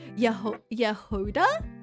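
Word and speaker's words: Jahoda: Hey I get my people uh spelling Jehuda wrong is the Slavic language which means strawberry strawberry in a check so she should be pronounced like yehoda in English.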